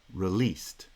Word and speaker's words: released: was released last week the word released has stress on the second syllable released the r is an unstressed syllable and as a result it kind of joins the previous foot the iphone was released